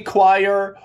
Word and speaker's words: choir: way it is officially choir o i r is IR IR there's a little silent o in there and qu qu qu